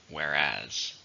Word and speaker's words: whereas: How many syllables are in whereas? 2, stress in the second, whereas.